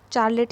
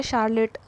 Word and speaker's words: Charlotte: Elizabeth's close friendship with चार्लेट Bronte, चार्लेट या शार्लेट दोनों ही pronunciation लोग यूज़ कर रहे हैं, चार्लेट और शार्लेट Bronte, inspired her to right a biography on the request of ब्रोंटेस father.